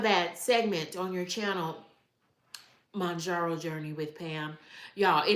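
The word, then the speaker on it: Mounjaro: It's not Moonjaro. It's Mjaro Journey with Pam. And it's pronounced Mjaro.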